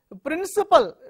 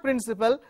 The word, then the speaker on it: principle: Principle. Generally students, we hear students speak principal. It's not principal, it's a principle.